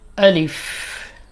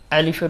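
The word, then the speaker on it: ألف: আলিফ আলিফ আলিফের উচ্চারণ অনেকেই আলিফ আলিফ বলে থাকে উচ্চারণটা একেবারে স্ট্রং হবে আলিফ আলিফ আলিফ আলিফ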